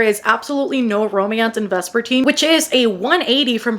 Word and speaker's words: Vespertine: September, we have got Vespertine by Margaret Rogerson, previously known to me as Vesperdine because I genuinely thought that was how you pronounced it.